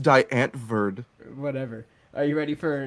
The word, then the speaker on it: Die Antwoord: It's pronounced Diane Verd.